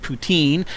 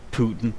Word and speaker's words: poutine: It's pronounced poutine. I don't know how to pronounce it. I just call it Putin, whatever.